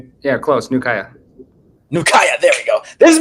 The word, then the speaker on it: Nukuya: bro I'm saying it right right yeah close Nua Naya there we go this has been Naya's